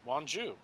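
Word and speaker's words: Wonju: is my one continent well it's spelled w-o-n-j-u w-o-n-j-u yeah wanju right uh it's either one g or wanjia or one probably want you though bit being korean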